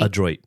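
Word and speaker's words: Adroit Theory: oh a Droid Theory a Droid okay so it is like Android but without the I was like is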